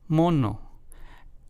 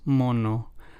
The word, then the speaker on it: mono: The two words in Spanish moño versus mono. Let's hear those two again. Moño versus mono. The first one translates to bun in English while the second one translates to monkey in English.